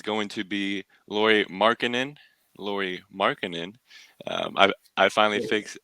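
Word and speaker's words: Lauri Markkanen: first one is going to be Lori markkanen Lori markkanen um I I finally fixed fixed my pronunciation of them so shout out you guys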